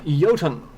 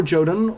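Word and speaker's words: Jotun: to pronounce it it's it's Celtic Norse you know so I want to sing Norse the Jays are like wise like a lot of other languages except for English because English we have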